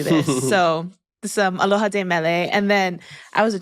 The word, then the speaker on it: De Mele: like is it oio is it de Mele D Mele like just I like to know all that stuff I go with de like deos so and then I'm a